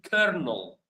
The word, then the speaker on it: colonel: So, the word I want you to spell for me in the chat is kernel.